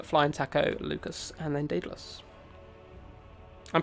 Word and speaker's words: Daedalus: And then we are going to jump over Raptor and go down to Baron, El Halcone, Flying Taco, Lucas, and then Daedalus. I'm pronouncing it correctly, yes.